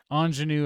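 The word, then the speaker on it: Aunjanue: anyone on this list anjanu ellis is how it's pronounced uh anjanu i'm sorry is how her first name is pronounced gotcha so uh yeah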